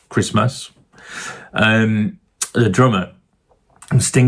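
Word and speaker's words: Maas: chatting to Dominic Miller the guitarist and Chris Mars I think it's pronounced Chris Mass um the drummer and Sting has put together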